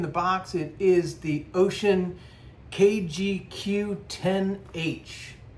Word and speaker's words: Wouxun: Wo Ux N, but I've been told it's pronounced ocean, right? I don't speak Chinese, so I wouldn't know. Some people call it waxon or waxon, but ocean, I think,